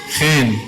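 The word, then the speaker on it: ϧⲉⲛ: And this letter looks like, someone from the back tell me, what letter does this look like? E. It looks like an E, it's pronounced like an E. How simple is this? This is too easy. What about this letter? Looks like an N. Guess what? It's pronounced like an N. So what word is this? Chen.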